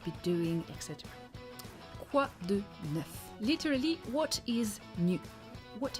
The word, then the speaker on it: neuf: Neuf. For once, the letter at the end is not silent, so you have to pronounce it.